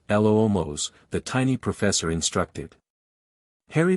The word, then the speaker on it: Lumos: Remember, it's a gentle swish and clearly pronounce L-O-O-Mos, the tiny professor instructed.